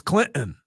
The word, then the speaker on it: Clinton: And Clinton instead of Clinton. Yeah, and you know what? Real quick on that. Like nobody enunciates that T in Clinton. Nobody says, "Hey guys, we're going to Clinton tonight."